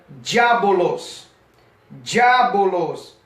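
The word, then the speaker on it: διάβολος: significa a palavra diabo a palavra diabo vida do original grego é pronunciada diabolôs diabolôs que significa caluniador de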